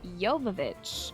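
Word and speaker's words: Jovic: prob something new today it's pronounced yovich okay thank you for the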